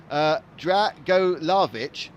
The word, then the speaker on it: Dragolavich: All right, just for our information, Milan's surname is pronounced, and this is the man who stopped quadding and therefore upset us, Dragolavich.